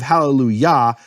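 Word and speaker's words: Hallelujah: And think of the vowel in Yah, the Yah of HalleluYAH. That actually is the kamatz that is the pronunciation of that vowel, kamatz. And that vowel is different than the vowel in Yahweh.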